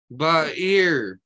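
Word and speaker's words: בָּעִיר: Ba'ir. This is an ayin. Ayin is silent.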